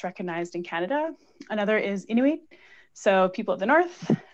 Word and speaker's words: Inuit: So are Métis recognized as Indigenous along with First Nations, or, and then I'm just going to spell it out because I don't want to butcher it, I-N-U-I-T.